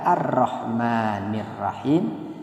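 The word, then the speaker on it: الرحمن: Jadi dibacanya rabbil alaminarahman Kenapa karena lagi-lagi pada kata Arrahman ada Hamzah wasal di awalnya kaidahnya ketika dijadikan awal kata maka terbaca arrahmanirrahim tetapi ketika disambungkan dengan kata sebelumnya alalamin maka otomatis dia ada di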